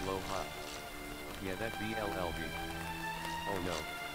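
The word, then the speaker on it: Blåhaj: It's pronounced more like low high, but in the TBS clap, offense, clap. I type the right vowel. It's pronounced a little different though, like it's not a blahash blast, it's a blow hot.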